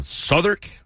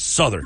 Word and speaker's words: Southwark: Mayflower session from uh I always say this wrong uh souk Brewing that's sure well it's spelled southwark but it's Souther over there sure a low volage